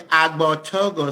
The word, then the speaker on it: Agbortogo: Agbortogo. So the first G is silent. So it's like Agbortogo. about to go. Think about to go food. Take out to go.